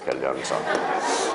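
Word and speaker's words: 견련성: 자, 결련성이라고 읽어야 돼요. 결련성. 자, 결련성은 몇 개예요?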